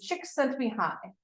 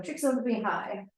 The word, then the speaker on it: Csikszentmihalyi: The way to pronounce this guy's name is Csikszentmihalyi. So Csikszentmihalyi, and he talked about and was really interested in optimal experiences.